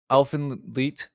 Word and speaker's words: Elfen Lied: Yeah, Elfen Lied, as we found out it's pronounced, Shannon.